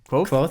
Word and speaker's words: Kvothe: Kvothe, yeah.